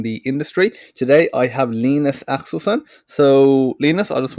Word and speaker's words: Linus: about your name because, I was pronouncing it Linus Axelsson and I asked you how you pronounce it. You said Linus.